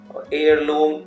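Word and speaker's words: heirloom: तो ये सब आवरली, ऑनरेबल, ऑनरेरी, ठीक है, एयरलूम, इसमें क्या है कि एच साइलेंट है।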